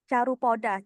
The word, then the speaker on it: Carupoda: For Bima Carupoda, you pronounce it Carupoda.